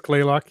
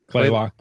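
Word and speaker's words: Kalaloch: know I'm guessing yeah I think it's clay Locke yeah Chloe walk yeah which makes sense because it would probably based on the indigenous original name next one's one of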